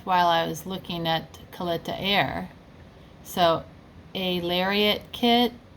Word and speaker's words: Kalitta: I figured out that's how you pronounce it now, Kalitta, not Kalitta.